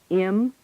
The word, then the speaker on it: him: The object pronouns him and her, when said with weak stress, lose the H sound and are pronounced im and Tell him.